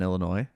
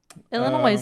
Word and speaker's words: Illinois: she just put an S on Illinois moving on Illinois that's why you say